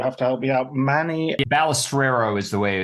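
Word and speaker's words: Manny Balestrero: wrong so you have to help me out Manny balustrero is the way it's pronounced okay I should get that right because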